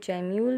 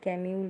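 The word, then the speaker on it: gemmule: कोई कोई जैम्यूल भी बोलता है बट गैम्यूल इज़ the right word अपने प्रोनाउंसिएशन पे.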